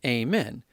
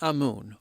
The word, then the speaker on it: Amun: sounds like the word amen pending how you pronounce it anyway his name was amoon or amman pending where you look some references actually have his name as amen he eventually became